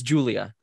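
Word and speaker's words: Giulia: guila no luca girl oh it's julia julia but it's spelled like yeah g-i-u yeah l-i-a um she shows up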